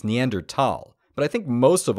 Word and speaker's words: Neanderthal: of auspicious huh now if you want to sound proper the correct pronunciation is neander tal but I think most